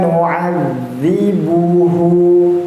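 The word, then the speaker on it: نُعَذِّبُهُ: Membacanya tasydid, yakni berarti kita membacanya itu ditahan sejenak, ya, tidak didengungkan, tetapi membacanya itu sempat tertahan. Nu'adzibuhu, ya, jadi jangan sampai nu'adzibuhu atau nu'adzibuhu, ya, ada d-nya malah.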